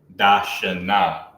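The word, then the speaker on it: דשנה: You'll see da, sha, and you'll pronounce the sha and the na together, making shun. But when you add that ha at the end, you have to pronounce that last syllable and then just add your ha. So that's how you would pronounce it as a woman's name or making it feminine. Dashana, right?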